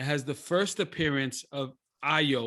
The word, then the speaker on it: Ayo: the first appearance of io or ayo i don't know how her pronunciation is it's ayo and she is one